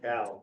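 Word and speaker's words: Cao: Have you done any polling on the Senate contests between Kane and how do you pronounce Cal. it? Cal, that's it.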